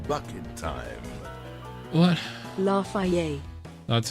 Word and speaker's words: Lafayette: Lafayette. That's how it's pronounced.